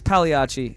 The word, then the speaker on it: Pagliacci: It's Pagliacci. Oh, okay. Like the clown, actually, if you're thinking about it.